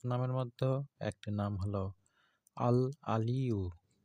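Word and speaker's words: الْعَلِيُّ: মধ্যেও একটি নাম হলো আল আলিউ এখানে আইন আছে আইনের উচ্চারণ করতে হবে আল আলিউ এই নামটির অর্থ এবং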